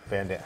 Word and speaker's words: Van Damme: Van Damme.